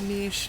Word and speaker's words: niche: And as a poet in general, I'm already considered very niche, niche, whatever you want to, however you want to pronounce it. Both of them are right actually, but I I